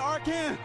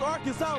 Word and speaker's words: Arkansas: I got that one, and that's how you pronounce it, ain't Arkan. It's Arkansas, baby.